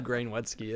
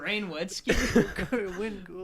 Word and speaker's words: Wayne Gretzky: great Wayne Gretzky, and you have to get it right. I don't even know who Grain Wetzky is. Wayne Gretzky.